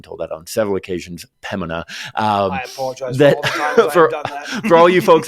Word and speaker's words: Pembina: barrhead in Orlando area um be careful don't pronounce the b impemina I've been told that on several occasions pemina um for all you folks up in Pembina